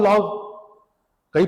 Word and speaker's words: loci: LOCI, आप देख लीजिएगा प्रोनाउंसिएशन क्या होगा, लोकी, LOCI, लैक्स लोकी।